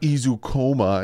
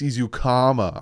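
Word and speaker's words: Ezukanma: it Eric izukoma people was like it's not izukoma it's izukama I'm like I thought it was dancing I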